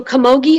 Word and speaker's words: camogie: all the information please so kamogi is the only pronunciation it's a noun uh